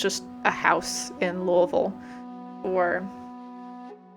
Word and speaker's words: Louisville: house in Louisville, or I should say Louisville if you're not familiar with the area. But the locals pronounce it Louisville, which makes it sound like, you know, you gotta say it like you threw up a little bit in your mouth.